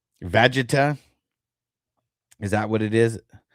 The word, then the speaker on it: Vegeta: I don't know if you know how to pronounce the name. Okay, so it's Vegeta.